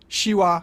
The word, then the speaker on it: Siła: It's like a softer sh, which I've already compared to English sh in shoe. Siła, siorbać, coś.